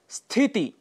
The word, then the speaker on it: स्थिति: स्थिति। स्थिति, इसके लिए स्थिति शब्द का प्रयोग करते हैं, जो गलत है। स्थिति यह इसका शुद्ध उच्चारण है।